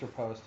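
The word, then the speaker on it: riposte: you pronounce it yeah I think it's repost it's repost okay yeah that's the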